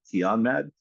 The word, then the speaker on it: Kianmahd: I am joined today by Michael Keanmad, CEO of Maxim Commercial Capitals. Thanks for joining me, Michael. My pleasure. That's a perfect pronunciation of my last name.